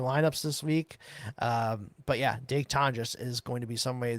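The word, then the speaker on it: Jake Tonges: Jake Tonjes, that's how you say it now.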